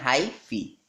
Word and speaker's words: hyphae: क्या बोलेंगे, हाईफी सॉरी, इसको लिखते हैं HEAPHYPHAE, ठीक, प्रोनाउंसिएशन करते हैं हाईफी, ठीक।